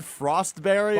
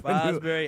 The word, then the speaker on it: Fosbury: Yeah, you said Frostberry, I believe. Frostberry. Fosberry. When you asked it to Rob? No. Well, you just brutal pronunciation on Fosbury flop.